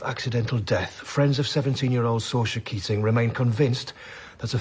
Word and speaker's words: Saoirse: Saoirse. Spell it.